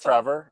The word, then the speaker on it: Trefor: One is Elsa Craig, and one is another island off of Wales called Trevor. It's spelled with an F, but it's pronounced Trevor.